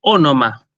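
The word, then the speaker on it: ὄνομα: Bueno, nombre en griego se dice ónoma, ¿sí? Así como suena con las dos veces con Omicron, ahora lo escribo en el chat, pero se los digo oralmente primero.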